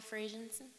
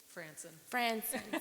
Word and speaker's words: Franson: Frazenson, Franson. sorry, I apologize. Aye. It rhymes with Manson.